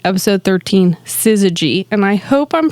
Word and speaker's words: syzygy: season 3 episode 13 syzygy and I hope I'm pronouncing that right Jake is giving me the thumbs up it is sy z y gy this is a G syzygy in this episode aired